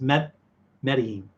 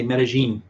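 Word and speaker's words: Medellín: No, it's Medellin is how you say that. But I think in Colombia they say Medellin because they do the double L, the Spanish Y sound, that double L.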